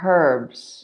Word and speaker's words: herb: In the UK, we would say a herb using a h sound, whereas in the US, an herb, not pronouncing the H.